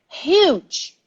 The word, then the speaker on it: huge: be happy to explain huge huge very big also humongous humongous very very big as well so see in english the h is not always silent okay be careful with